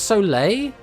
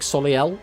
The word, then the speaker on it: Soleil: Oh, this is pronounced Soleil? Oh. I'm not going to lie. I like Soliel as a pronunciation, but like, obviously it's not Soliel because the E and the I are the way around.